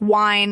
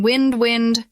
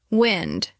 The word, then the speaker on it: wind: Many learners pronounce this like wine instead of wind. Practice saying wind wind and feel how your lips form a small circle at the end.